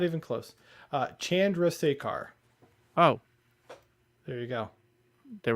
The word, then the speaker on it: Chandrasekhar: Chandrasekhar.